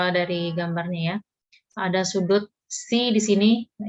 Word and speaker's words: psi: Ada sudut C di sini. Nah, ini bacanya C gitu ya, PSI tapi bacanya C.